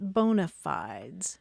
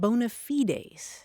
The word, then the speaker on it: bona fides: It was borrowed intact from Latin and it's spelled the same way B O N A and then a separate word fi ds. And in Latin you pronounce it bonafides and that literally means good faith.